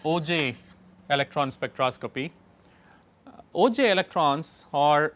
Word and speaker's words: Auger: So, that is a big advantage of OJ spectroscopy. It is spelled AUGER, not OJ.